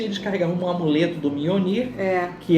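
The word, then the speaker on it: Mjölnir: Mjolnir. Mjolnir. Se escreve a pronúncia Mjolnir, mas se escreve MJOLNIR.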